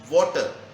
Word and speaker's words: water: So the pronunciation of word water, we will say it water, not water.